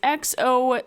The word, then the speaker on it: Xochimilco: So, the Island of Dolls is located in the channels of Chimilco. Someone help us with the pronunciation there. Because my Spanish is not good. It is Xochimilco.